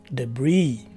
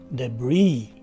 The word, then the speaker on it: debris: you will see that the stress is in the second syllable the letter e takes